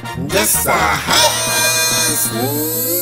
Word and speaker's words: Jesahias Nathan: Jesahias Nathan! Jesahias Nathan, and that is the last time I will correctly pronounce his name on purpose, has some very strong opinions about abortion and atheism.